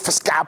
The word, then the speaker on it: fiscal: When the way you use fiscal policy, I always used to think it was the word physical, and they couldn't pronounce it well. Until later, I found that it was FIS.